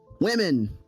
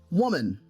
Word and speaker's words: women: And this is something that's only a problem online, it's women, not woman.